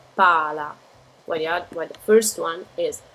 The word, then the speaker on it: pala: You see the L is just slightly pronounced, so it's pala.